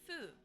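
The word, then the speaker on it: ふ: ha or W he this one is pronounced Fu so like an F sound F he F he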